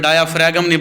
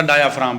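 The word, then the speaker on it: diaphragm: हुआ है जी इसमें डाय फ्रेगमिन बेटा डायाफ्राम पढ़ना ठीक है साइलेंट ना भूले अब आपको इस पर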